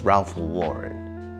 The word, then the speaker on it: Ralph Lauren: But if you didn't know, it's Ralph Lauren, okay?